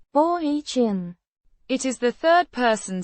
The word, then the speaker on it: он: A personal pronoun meaning he, pronounced. ohn.